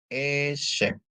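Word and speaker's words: עשב: Terus ada ain dikasih sere, bacanya E. Shin dikasih segol, bacanya C. Ditambah bet ya. Jadi bacanya E-shape.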